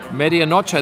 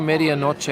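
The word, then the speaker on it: medianoche: me a drink media nacho that's what i had kelly that's what i had but i i pronounced it wrongly on the first two takes of the video and these lovely people were saying get the media noche sandwich which stands for oh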